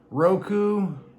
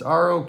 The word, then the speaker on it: Roque: Yehey Roku. It's Roque. Yehey Roku Jr.